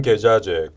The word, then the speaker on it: 계좌제: 근로시간 계좌제, 근로시간 계좌제입니다. 발음에 좀 유의해 주십시오. 계좌제.